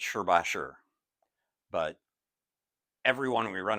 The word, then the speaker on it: Shibashi: that according to our research it's actually not pronounced shibashi it's sh bash sure but everyone we run across pronounces it